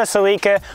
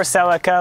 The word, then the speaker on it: Celica: 2001 7th gen Toyota celika or Celica like the Americans say I've been daily driving